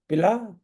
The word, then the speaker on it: पीला: तो वन टू टूटू पिला भाई मुझे जरा शरबत पिला दे या पीला मेरी कमीज का रंग पीला है पिता य मेरे पिता